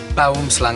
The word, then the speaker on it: boomslang: Boomslang, I think it's called, isn't it?